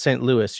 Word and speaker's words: St. Louis: Oh, Grace says St. Louis. You pronounce the S.